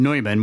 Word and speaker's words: Neumann: That Germanic language there, when you put those yeah those letters together in that way, is supposed to be Neu.